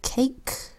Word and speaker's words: cake: Next word, cake.